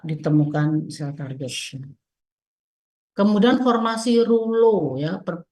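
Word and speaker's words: rouleaux: Kemudian formasi rulo, ya, bacanya bukan Reulux, tapi rulo.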